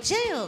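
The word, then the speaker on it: 加油: ジェヨって言って意味は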